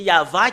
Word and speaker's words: Yahvah: On doit le prononcer comme cela. I-A-H. En fait, c'est pas faussé jusque-là. Mais depuis là, ça commence en V ou VH ou VA. Yava. Rien d'autre que ça. Et Yav, ça parle pas, mais c'est Yava qui parle.